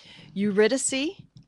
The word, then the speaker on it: Eurydice: Also, they're doing, and I always pronounce it wrong, so let me get it right. Eurydice, about the classic myth of Orpheus and through